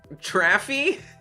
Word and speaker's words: Travie: Traffy? Like traffic, but F-ier.